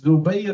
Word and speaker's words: Zubayr: One of the Jews, his name was Zubayr ibn Bata, and the people of the Jews will pronounce him as Zabir ibn Bata, and just to make it a different sound, different from how the Arab pronounce it.